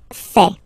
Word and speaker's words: fais: Je fais. Je fais. Remember, final S not pronounced.